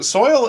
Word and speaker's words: soil: soil bubbles so what so soil is is one of those words where it's like it looks like it's only one syllable it's it's actually two syllables although you can kinda